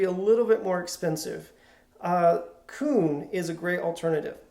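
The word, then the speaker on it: Kun: little bit more expensive, Coon is a great alternative. Coon is spelled K-U-N.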